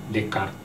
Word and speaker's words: Descartes: Mari kita betulkan bersama bahwa René Descartes bacanya Descartes dan bukan Descartes atau Deschartes.